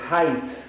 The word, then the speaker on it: height: manera hemos visto acá como la gh es un vacío fonético no lo pronuncies es height everage height Entonces es